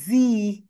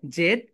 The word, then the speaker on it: Z: জি, জেড sounds like জি। আমেরিকানরা বলবে এটাকে জি, যা যা যা, বলো। ওকে, তাহলে আমরা পেলাম জেড এর দুইটা প্রোনাউন্সিয়েশন, একটা হচ্ছে ব্রিটিশ, একটা হচ্ছে আমেরিকান। ব্রিটিশরা বলবে জেড, এন্ড আমেরিকানরা বলবে জি, বলো।